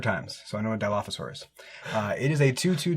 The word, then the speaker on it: dilophosaurus: for the ornery dilophosaur and i nailed the pronunciation because i've seen jurassic park like a hundred times so i know what dilophosaurus uh it is a two-two dinosaur with death